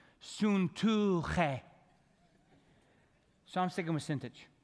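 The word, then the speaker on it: Syntyche: The Y's in this name are ooh, okay? And the C-H-E is che, okay? So here's the way you pronounce the name, Suntuche.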